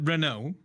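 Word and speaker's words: Renaud: while ago Blair uh Renault the de is silent um the the lowii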